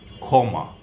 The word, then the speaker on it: ক্ষমা: আমি মনে করিয়ে দিচ্ছি কিছু উদাহরণ, যেমন ক্ষত, ক্ষয়ের মতো শুরুতে, ক্ষমা, ক্ষান্ত, ক্ষতি শুরুতে বসলে ক্ষয়ের মতো উচ্চারণ হয়।